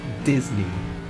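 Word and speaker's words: Dizney: Yeah, someone in the field named Clint Disney, although it's spelled D-I-Z-N-E-Y.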